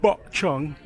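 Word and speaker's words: Bukchon: 옛 기록에 따르면 조선시대 Alright, people, we're in we're on Bokchong Hangong Village.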